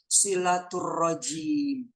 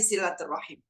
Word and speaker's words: silaturahim: Jadi kira-kira dibacanya apa tuh? Ar-Rajim. Nah, silaturrajim. Ya Allah, na'udzubillahi min dzalik. Kalau ngomongin silaturrajim ini ya, kita selama ini kan masih berkutat di silaturrahim.